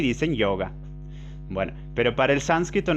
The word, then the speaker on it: yoga: Yoga niyama o yama niyama, los principios éticos. Y la O en sánscrito, así como la E, siempre son largas, son sonidos largos. Entonces, yoga, yoga, yoga.